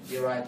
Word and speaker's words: derive: Derive pleasure from out. Okay. Nhớ cách đọc cái từ đầu tiên này. Rất nhiều người đọc từ này sai, đúng không? Đấy, cái là derive, đúng không? Derive.